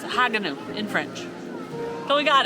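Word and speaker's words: Haguenau: family right here behind us how to properly pronounce the name of this village. It is Haganau. Haganau. In French. And I think it was in German, it's Haganau. But it's Haganau in French.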